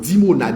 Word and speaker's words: Dimona: Iran lancé sous dimona dimona comme ça se prononce dimona i m dimona oui qui t'a blessé